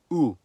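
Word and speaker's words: у: In cerillic, the letter is called ooh. It's a crucial part of every cerillic script language. And guess what? Just like its name, the sound it makes is ooh.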